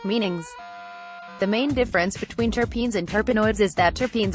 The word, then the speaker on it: terpenes: class of aromatic organic hydrocarbons known as terpenes pronounced terpenes you may have also heard people talk about